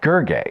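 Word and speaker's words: Gergely: to the pronunciation and the websites all said gerg is that right there's no l GG uh says this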